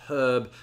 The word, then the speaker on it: herb: we're talking about pronunciation a lot of americans have a tendency to drop the h on herb whereas the british tend